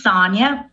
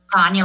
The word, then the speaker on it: Sonia: Hi, my name is Sonia. Sonia rhymes with Tanya.